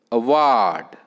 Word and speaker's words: award: Fourth, award. Award. Award. Correct. A first syllable, ward. Odd. A हे दुसरं vowel आहे. So ward second syllable, stress on the second syllable.